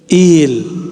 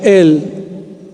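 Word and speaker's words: إيل: Il. Orang Arab nggak ada baca el, bacanya il.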